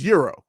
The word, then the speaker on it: gyro: it's definitely got no it's not gyro it's euro euro again i've lived in europe i've been to greece it's euro it's how you pronounce it it's not gyro